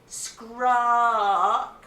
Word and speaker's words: Skrark: When you say it, Skrark, you must roll your R's. You must look like a pirate.